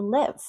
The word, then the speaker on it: live: So you can say, where do you live? I live in Madrid. Live. Notice I'm not smiling. Live, leave. I have to leave.